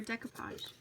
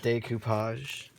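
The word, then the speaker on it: découpage: For decopage. Decopage. What's decopage? You take a napkin. Isn't it pronounced decoupage? Okay, you could get technical and call it decoupage, but I call it decopage.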